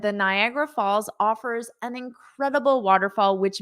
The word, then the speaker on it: Niagara: it is absolutely breathtaking oh but you didn't say Niagara Falls you said Nicaragua Falls I saw the nigh and because Niagara Falls is near me that's what I saw but it's not is Nicaragua Falls I have not been